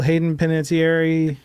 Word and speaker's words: Hayden Panettiere: You're not like a little Hayden Panettiere. That's who played the cheerleader, right? Yeah. Right? Okay. I don't know if you pronounced it right, but yes, you got it right.